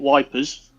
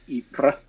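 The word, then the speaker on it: Ypres: it wasn't that um as the British used to call it wipers because it's it's spelled y-p-r-e-s ipra um it was a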